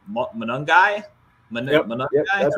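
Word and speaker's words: Monangai: Munungai?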